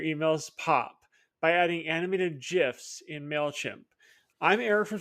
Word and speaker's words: GIF: to make your emails pop by adding animated GIFs in Mailchimp. I'm Eric from Strategy Email, and in today's video, I'm going to cover exactly how to insert animated GIFs directly from Giphy using Mailchimp's tools.